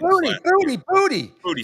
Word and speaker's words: Boutte: Booty. Sorry, but they say Boutte. They say Boutte in the French Quarter. But he said he pronounces it booty.